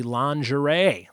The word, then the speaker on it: lingerie: French word for linen that would be lingerie lingerie spelled lingering as I would read it if I was reading it how it's spelled lingerie number four within